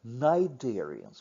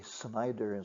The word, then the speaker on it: cnidarians: in terms of organisation cnidarians with silent sea not not say Snyder's or colliders they're cnidarians some Greek based terms